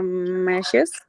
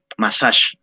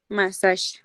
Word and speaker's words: massage: you have a cake she will have a meshes massage massage exactly that's the way let's go to the